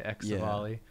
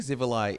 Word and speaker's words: Xivilai: i was a kid i used to say ex bali but i believe i have heard an npc in the elder scrolls online say civilized so and i think zivili is phonetically it's it's yeah and